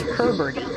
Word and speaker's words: heberti: So, I said it wrong before. I said heberti cuz I misspelled it in the script. It's heberti. The really interesting thing about